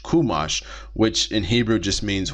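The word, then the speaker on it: חומש: Jewish circles you'll also see the word uh kumash kumash c h u m a s h kumash which in Hebrew just means one or just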